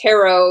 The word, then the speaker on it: tarot: now it's almost like I say tarot it doesn't rhyme with carrot yeah people say yeah